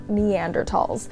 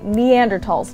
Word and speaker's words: Neanderthal: Yeah, so Neanderthals are actually named after the Neander Valley in Germany where their bones were first discovered.